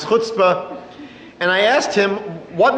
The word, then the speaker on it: chutzpah: "Rabbi, you Jews have a tremendous amount of chutzpahs." I had to forgive the person for not knowing how to pronounce chutzpah.